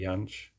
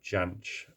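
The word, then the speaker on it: Jansch: to see him live this is bertie yanch or janch as i believe it's uh supposed to be pronounced um and the song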